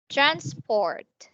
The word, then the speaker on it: transport: Transport. Transport. Okay, so be careful. Yes. Okay, be careful with your um T sound, right?